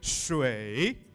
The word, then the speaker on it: 水: 水. 水. 水. 水. Listen to Wusani, she did the right tone. Everybody say it with me. 水. You go down and then rise a little bit. 水.